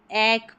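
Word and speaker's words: ache: और यहाँ पर ये सी एच है जैसे इसमें आ रहा है, क प्रोनाउंस करते हैं, जैसे हेडेक होता है वैसे ही ए सी एच ई एक प्रोनाउंस करेंगे, हेडेक यानी सर में दर्द, एक दर्द।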